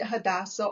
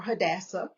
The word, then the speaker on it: Hadassah: the definition yes so hadassa and you can pronounce it hadassa or hadassa she is Esther in